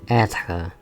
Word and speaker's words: être: Sorry, I can pronounce R's very well. So it's être.